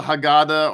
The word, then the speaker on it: Haggadah: particularly looking at the haggadah uh what is the haggadah or the haggadah however you want to pronounce it and the answer to